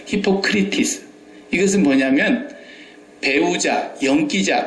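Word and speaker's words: ὑποκριτής: 외식이라는 이 단어는 히포크리토스라는 말인데 히포크리테스라는 말은 의사들이 히포크라테스 선서하죠. 그거하고 비슷한 발음인데 그건 달라요. 히포크리티스.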